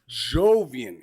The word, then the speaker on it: Jovian: Jovian here with me. Did I pronounce that correctly? Yeah, you got Jovian correct.